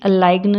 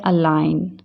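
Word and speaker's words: align: यहाँ मैंने जी जब साइलेंट होता है, जिससे कि आप वो एन से समझ पहले होता है, जैसे कि अलाइग्न नहीं बोलते, क्या बोलते हैं? अलाइन।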